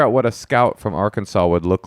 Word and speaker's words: Arkansas: That's how you pronounce it. Arkansas.